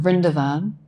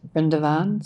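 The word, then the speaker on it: Vrindavan: we just sang um brindavan it's sometimes pronounced brindavan sometimes friend Darwin I'm not sure what it depends on but um it's the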